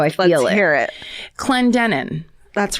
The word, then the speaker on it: Clendenin: Oh, I didn't look up the okay, I'll just pronounce this how I feel Let's hear it. Clendenin.